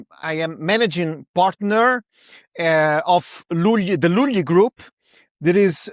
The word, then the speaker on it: Lugli: So, it's Luli, but it's because it's Italian, you know.